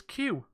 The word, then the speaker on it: queue: It is Q. So Q followed by UE, UE. So Q, the word Q is literally the letter Q followed by a queue of letters.